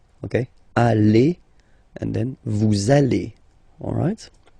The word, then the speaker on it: allez: Vous allez. Vous allez. Alright? Remember, classic ending for vous, Z, okay? But then when you combine these two letters, you get the sound E. Okay? Allez.